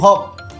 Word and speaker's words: hope: আবার যখন HOPE হয়ে যাবে, ঠিক আছে, তখন হয়ে যাবে হোপ, তখন ও এর উচ্চারণ এসে যাবে। কারণ এই ভাওয়েলটাকে বলছে তুমি জোরে জোরে চেঁচাও। ঠিক আছে, তখন এই এর আওয়াজটা কিন্তু পাওয়া যাবে না।